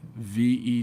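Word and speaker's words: Vejle: Greetings from V E J L E. Ve, right? You don't pronounce the J.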